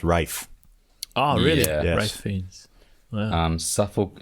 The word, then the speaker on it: Ralph: but i'm he's welsh he's welsh because that's why his name is meant to be pronounced rafe oh really yeah um